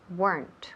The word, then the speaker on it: weren't: either okay very good so let me repeat there weren't remember weren't okay good so one syllable wener noer weren weren